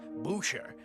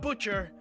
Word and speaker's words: Bouchere: It's pronounced Boucher, not Butcher.